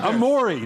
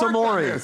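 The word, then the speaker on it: Omoruyi: them last night apparently he changed the pronunciation again i worked on amory now it's a maury i texted with robbie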